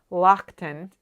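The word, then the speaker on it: Loaghtan: I looked up Manx it turns out it's pronounced Lockton I fell in love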